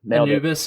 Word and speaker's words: Anubis: His trail name is Anubis. Dude, how's it going? Did I pronounce that trail name right? Did I get that? Yeah, you nailed it. Anubis?